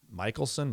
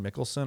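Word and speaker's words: Michelsen: Um, the semi-final was Medbedv versus Michaelelsson. Mickelson. I the American. I always say his name wrong.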